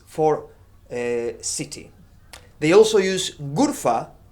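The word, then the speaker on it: غرفة: They also use Ghurfa or Ghurfa, pronounced as exactly as in Arabic.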